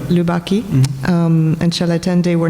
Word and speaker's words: Lubaki: She says, the commissioned works by, how do you say his name? Cilatendo? No, not Cilatendo. Lubaki? Lubaki.